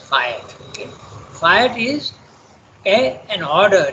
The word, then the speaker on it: fiat: The word is pronounced fiat.